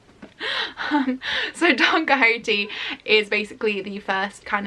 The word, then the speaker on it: Don Quixote: one not only because i finally know how to pronounce don quixote after like so many years of seeing it written and being like don quixot so danka haiti is basically the first